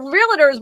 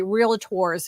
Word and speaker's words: Realtor: was good to see you I wish more Realtors would learn from you well they get mad because I say realators incorrectly I say realtor and realator is the